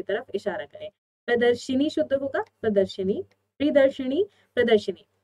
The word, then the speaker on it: प्रदर्शनी: अब तक उम्मीद है सबको याद हो चुका होगा प्रदर्शनी का शुद्ध रूप क्या होता है, लेकिन फिर भी एक बार उच्चारण सही से करिए। प्रदर्शनी होता है, प्रदर्शनी, प्रदर्शिनी नहीं, प्रदर्शनी।